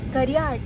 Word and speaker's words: Gariahat: गोरियाहाट है, गोरियाहाट से बोलते दिया करो। अच्छा यार, मेरा प्रोनाउंसिएशन गलत हो जाता है, कोई बात नहीं।